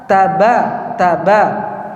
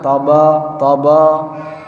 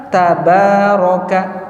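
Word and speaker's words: تبارك: Seperti huruf ta dalam Al-Qur'an itu dibaca ta bukan th. ta bukan theda, Pak. Kan beda suara kan th dengan ta beda kan. Nah, semua huruf-huruf dibaca dengan terbuka. Ta ba tsa bukan sh th ah bukan ta. Taba taba bukan thaba thaba.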